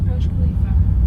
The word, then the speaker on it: Burj Khalifa: I think I'm always pronouncing it wrong. The biggest building. Burj Khalifa.